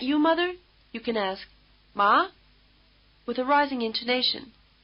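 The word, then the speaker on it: 麻: you can ask, "Ma?" with a rising intonation. Think of the question, "Ma?" and it may help you pronounce the rising tone word which means hemp.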